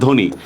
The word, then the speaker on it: ধ্বনি: আচ্ছা যেমন দেখেন ধ্বনি, বফলার উচ্চারণ হবে? নাই, কোনো উচ্চারণ নাই, ধয় ওকার, নরস্কার নি, ধ্বনি।